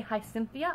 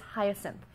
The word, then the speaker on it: Hyacinth: bear with hyacinth hyacinth I always want to say hi Cynthia I don't know why but it's hyacinth and she is the